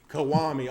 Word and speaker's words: Kiwami: How you pronounce it? Kawhi. Huh? Kiwami? Okay, Kiwami.